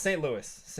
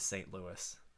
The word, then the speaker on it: St. Louis: Well, I should get roasted for one of those pronunciations. No, it's St. Louis.